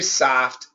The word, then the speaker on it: soft: Here too, Sergey, AW is the standard pronunciation. You'll definitely hear soft. Soft is very New York, very Boston for the soft. I do recommend AW for soft too.